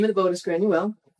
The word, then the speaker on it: Granuaile: of the boat is granule which is the gaelic pronunciation of grace o'malley okay so mally was